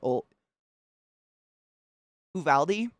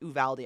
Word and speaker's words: Uvalde: he he went to ol who valdi i ca i pronounced it very very wrong the first day it's ooh valde i believe is how you say the word that was his school